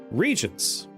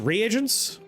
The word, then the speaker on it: reagents: Chris has been trying to say regents, but has chosen to spitefully say the name of a bunch of New York tests.